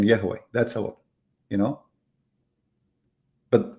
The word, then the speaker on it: Yahweh: Like some they say Yahweh, some they say Yahweh, you know. So the Vav can be pronounced as Wah, Yahweh, Yahweh.